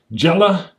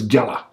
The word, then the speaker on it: Gela: It's Gela Beachhead. I think it is pronounced Gela or it's Gela.